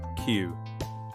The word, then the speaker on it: queue: q u e u e, but we say queue. Just one sound.